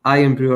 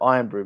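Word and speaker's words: Irn-Bru: few months ago, and people call it Iron Brew, but it's not. It's Earned Brew, isn't it? I think that's how it's pronounced, or something like that.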